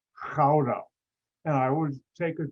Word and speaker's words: Gouda: in the town spelled g-o-u-d-a anybody ever hear that cheese g-o-u-d-a americans pronounce it gouda industry g is a hard ch sound and because i know